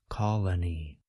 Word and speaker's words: colony: Even though we spell colony with two O's, we pronounce each O a bit differently. Listen again to the singular form, colony. Note that the first letter O suggests this vowel sound, ah.